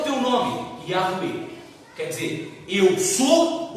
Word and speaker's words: Yahweh: E a pronúncia é Yahweh.